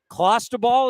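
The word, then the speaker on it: clostebol: pressing him on it so clausta ball is how you say it i i'll take it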